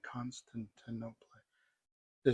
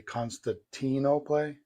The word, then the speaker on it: Constantinople: a shroud taken from Constantinople. Constantinople was the shroud taken from constant I can't say that word con constant no play constant no play is is the pronunciation constant and no play thank you even the